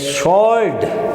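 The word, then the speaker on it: sword: She never had ए स्वॉर्ड, यहाँ भी W silent है।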